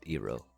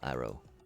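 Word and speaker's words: Iroh: And then I know I know I said Ero sorry sorry phonetically phonetically if we're thinking about the Eastern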